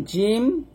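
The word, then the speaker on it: جيم: তারপর দেখুন জিম, রাল, জা এবং হচ্ছে র। এখানে 4টা হরফ আছে। জিম জিব্বার মধ্যখান উপরে তালুর সঙ্গে লাগবে, যা, জি, জু।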